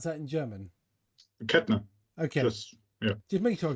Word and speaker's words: Kettner: I wanted to make but how would you pronounce that in German? Kettner.